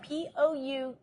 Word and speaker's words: poutine: It's called Poutine. Putin. Okay, Poutine, so it's spelled just like Poutine it or is.